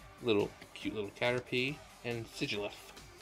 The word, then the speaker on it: Sigilyph: And Sigilyph. Or Sigilyph. Some pronounce it Sigil, or, you know, Sigil. Some say Sigil.